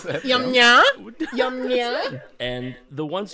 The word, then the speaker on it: Yamnaya: Okay, so the Yamnaya people, not Yamnya, Yum nya.